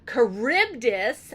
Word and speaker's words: Charybdis: you so we got the sirens we've got charybdis and we've got Silla now I'm not going